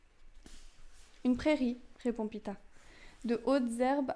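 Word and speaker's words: Peeta: C'est Pita, mais c'est Pita, ça s'écrit P-E-E-T-A.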